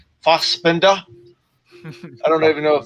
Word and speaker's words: Fassbender: You got to say it like you're German, bro. Fassbender.